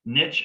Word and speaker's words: niche: wise if you check the cambridge dictionary niche and niche are both approved pronunciations there is not one right here um anyway the niche